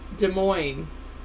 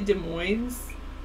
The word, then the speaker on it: Des Moines: Did he say Des Moines? Sometimes he does that, I think. I think he adds an S on it or something.